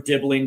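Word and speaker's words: Dibling: And then they have four attackers with Betto, Dwight McNeel, Tyler Dibbling, which rhymes with Nibbling, and Tyreek George.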